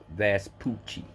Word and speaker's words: Vespucci: and perhaps that's Poochie his name is vest Poochie cuz they uh they broke it down so you could pronounce it correctly so it's Amerigo Vespucci we're on voyages to